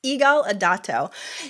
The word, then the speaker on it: Yigal Adato: and today on the show I'm so gonna pronounce her name right it's Eagle idato he runs a new podcast called unlock the